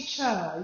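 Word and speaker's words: Chih: It's pronounced Cha, like chuck wagon.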